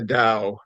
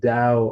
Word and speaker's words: Tao: him is should I be pronouncing it the da or the T you know it's it's both the the appropriate is the da spell Tao but the da of leadership yeah